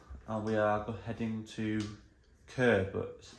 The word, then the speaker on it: Chur: driving from Basel and we are heading to occur but it's pronounced it's spelled c-h-u-r and so still in